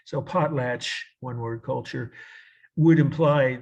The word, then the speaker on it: potlatch: pot plant when we're just like it sounds pot latch like p-o-t-l-a right TCH I guess you could